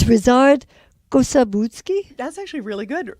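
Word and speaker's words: Ryszard: But it's Rizard Kosabutsky.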